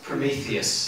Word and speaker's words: Prometheus: promethos how do you say from me toys prometheus thank you loser prometheus was granted to be